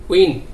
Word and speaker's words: whine: তারপর আরো কিছু আছে যেমন উইপ, উইপ শব্দের অর্থ হচ্ছে চাবুক, যেমন WHINE, উইন।